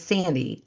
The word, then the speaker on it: Sandee: landed on my podcast, my name is Sandy. S an N D E E two E bird, not I Y R D.